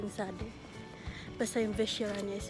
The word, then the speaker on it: Vyšehrad: Vyšehrad Sady, something hindi ko alam kung paano i-pronounce yung Sady. Basta yung Vyšehrad niya is Vyšehrad.